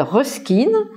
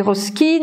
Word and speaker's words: Ruskin: Et plus particulièrement, un Anglais qui s'appelle Ruskin, ça s'écrit R-U-S-K-I-N, John Ruskin, qui est le théoricien de l'art social et de l'art nouveau comme art social.